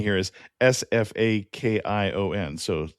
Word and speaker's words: Sfakion: The word we've been saying here is Sfakion, so Sfakion. Sounds better than my pronunciation.